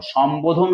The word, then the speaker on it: সম্বোধন: সম্বোধন শব্দের বফলা কখনো অন্তস্থ ব নয়। কেননা দেখো, সম্বোধন শব্দের মধ্যে বয়ের উচ্চারণটা সুস্পষ্ট আছে।